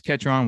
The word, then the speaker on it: Ketron: how do you say your last name kidron catron ketron mr ketron with ollie's coffee which is based in oxford